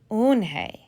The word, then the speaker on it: Unhei: she nodded slowly yes it's pronounced oon hey and it means grace mr kim added unhei joey said slowly and